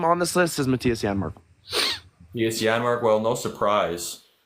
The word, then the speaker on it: Janmark: guy, this one NHL expert, was like, yeah, Janmark. He kept saying Janmark the whole show. How are you an NHL analyst and you're saying the guy's name wrong?